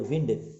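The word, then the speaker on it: wind: हवा, अगर आप इसको वाइंड कहेंगे ना तो इसका मतलब है घड़ी में चाबी भरना, ठीक है ना। तो वाइंड और विंड दोनों के उच्चारण में फ़र्क है, ठीक है ना, लेकिन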